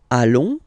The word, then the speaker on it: allons: Then nous, so we, plural form, nous allons, okay, and if you, so final S not pronounced, and then if you